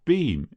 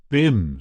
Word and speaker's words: Bim: Your beam. Is that how you pronounce it? BIM, said the other. B I M.